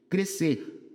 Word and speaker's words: crescer: Crescer. Esse sc é dígrafo, é. É crescer, perceba que o s não sai, igual piscina, né?